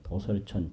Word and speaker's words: 도솔: 도솔이라는 건 도솔천 천상의 이름이고요. 근데 우리가 발음할 때는 도솔 그러는데 이걸 컴퓨터로 찾으려면 이 글자는 두자에다 찾아야 돼요. 두자에 찾아 이게 나와요. 그래서 이게 불교 한자 음이 다른 게 많아요.